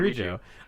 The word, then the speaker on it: Kirijo: Mitsuru Kirojo. Yeah, how do you say They say her name like Kirijo?